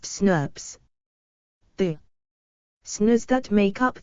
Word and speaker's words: snRNP: When these small RNAs are combined with the protein factors, they make RNA protein complexes called snRNPs, small nuclear ribonucleoproteins, pronounced SNRPs.